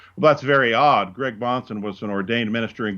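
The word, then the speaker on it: Bahnsen: baptist in 1904 well that's very odd greg bonson was an ordained minister in good standing in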